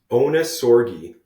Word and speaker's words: Ohnesorge: pronounce your last name onori so it's actually German like the German onori